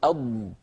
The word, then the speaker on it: ض: في اللغه العربيه حرف الاضاد يتحرك المخرج اثناء نطق الحرف لما نقول اض اض طبعا انا ابطئ العمل هو العمل اسرع